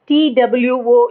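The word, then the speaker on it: two: என்ன துவி என்றால் இரண்டு டிடயூ என்பது அதிலிருந்து வந்ததுதான் துவியில் உள்ள இத் என்பதே டுவில் இட் ஆகிவிட்டது உச்சரிப்பில் டூ என்று சொன்ன ஆனாலும் ஸ்பெல்லிங்கில் டிக்கு அப்புறம் டபள்யூ வருகிறது டபள்யூ க்கு வா சப்தமே உண்டு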